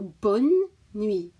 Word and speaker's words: bonne nuit: But the pronunciation is a key thing here. So bonne nuit, bonne nuit, bonne nuit, bonne nuit.